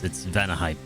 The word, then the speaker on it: Vanaheim: It's like Valheim, but it's Vanaheim. He's gonna be like, why you're butchering all my names here?